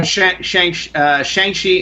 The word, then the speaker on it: Shang-Chi: Oh, Shang-Chi and the Legend of the 10 Rings. Oh, okay. So I've been mispronouncing it.